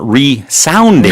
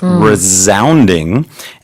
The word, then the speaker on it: resounding: Yeah, with that word, a little bit careful on the pronunciation. You're exactly right. It's not resounding as it looks, but because of the way the word is, the pronunciation changes slightly. It's resounding.